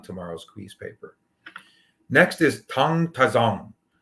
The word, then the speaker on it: Tang: Okay, when I say Tang, it looks like Tang, T-A-N-G, but the correct pronunciation is Tang.